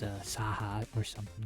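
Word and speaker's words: Scáthach: says ska says a saha or something like that. Just the way that that's spelled. You don't say the c sound, you say a h sound. That's just how Celtic is.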